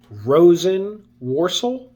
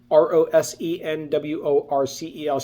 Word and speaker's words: Rosenworcel: The second name, Jessica Rosenworcel, I believe is how you pronounce her name, Rosenworcel.